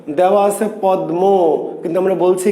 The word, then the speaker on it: পদ্মা: তাহলে লেখা আছে পদ্মা, কিন্তু আমরা উচ্চারণ করছি কি পদ্মা, পদ্মা।